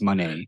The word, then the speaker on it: Moné: at first and that she clarified that's money yeah versus Kyrie for